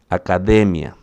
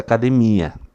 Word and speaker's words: academia: A sílaba forte aqui é de, academia, não é essa academia, tá?